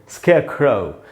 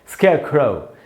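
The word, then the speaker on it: scarecrow: तो British English में इसको हम र को नहीं पढ़ेंगे और हम पढ़ेंगे स्केयर क्रो। अच्छा दोस्तों, क्रो नहीं होगा, मैंने अभी आपको बताया ओ नहीं होता, औ होता है, तो हम पढ़ेंगे क्रो, स्केयर क्रो।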